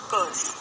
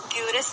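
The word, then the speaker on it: curse: कर्स, क्यूरस नहीं है, बहुत बारी गलती बोल देते, क्यूरस बोल देते, क्यूरस नहीं है, यहाँ पर क्यूरस नहीं है, यहाँ पर कर्स, कर्स, कर्स।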